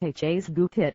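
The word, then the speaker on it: Hagupit: for herit the US agency said H gupit pronounced ha's gupit May Veer Northwest after coming England and sweep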